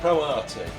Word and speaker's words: Pro Arte: Pro Arte. That's how you would pronounce it.